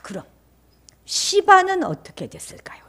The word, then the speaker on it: 시바: 자, 그럼 시바는 어떻게 됐을까요? 시바는 시바예요. 발음 잘하세요. 시바. 음. 달려 생각하면 안 됩니다요. 시바입니다.